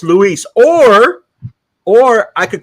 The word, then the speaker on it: Luis: You've just been talking okay, so someone got upset that I called you Louis, and that if your name is pronounced Luis. Okay, and what I was going to say was, okay, you're Cuban. It's Luis, or I could call